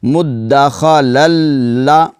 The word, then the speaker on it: مدخلا: مدخلا, لام شاد زبر لا, مدخلا, واو کو لام کے ساتھ ملائیں گے. پہلی واو جو ہے واو لام زبر ول, مدخلا ول, لام واو زبر لو, مدخلا ولو, ایسے تلفظ کریں گے اس کا.